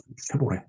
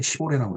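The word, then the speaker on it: Chevrolet: 그러나 역시 뭐 아직은 지금 대우도 지금 뭐 어, GM 쉐보레 옛날에 시보레라고 했는데 일본 발음입니다.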